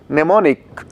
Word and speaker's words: mnemonic: Here see, mnemonic is spelled as M-N-E-M-O-N-I-C, where M is silent, whereas otherwise is known as, is pronounced as mnemonic device.